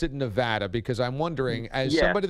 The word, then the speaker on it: Nevada: So you just, but yeah, Nevada. If you start fumbling that and going soft on the A, it's going to be a long day.